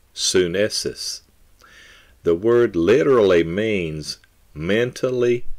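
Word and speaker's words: synesis: word translated understanding is spelled s-y-n-e-s-i-s pronounced sunnis the word literally means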